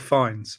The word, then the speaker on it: Fiennes: It's Ranulph Fines, as in the Explorer.